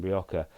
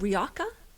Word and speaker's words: Rioja: I mean, look up Viora Hotel in Rioja, and they sit literally in the lap of